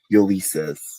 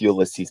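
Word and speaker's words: Ulysses: pronounced as Yukier is pronounced as um Ulysis, which which eventually my mom corrected me after production. She was like, it's Ulyses by the way.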